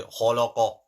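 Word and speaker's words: خلق: First one is kha, thick. The middle one is thin, khala. Last one is qaf, thick. So khalaqa.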